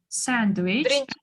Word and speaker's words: sandwich: Биринчи немге түшүп атат, же экинчиге түшүп атат? Sandwich. Биринчиге түшүп атат. Okay. The syllables on the first syllables, yeah?